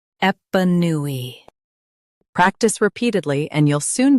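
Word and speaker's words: épanoui: Both US and UK have the same pronunciation of this word, EPANOUI. Now read the syllables shown on the screen naturally. Ep, new, e, EPANOUI. Stress new and keep ep soft.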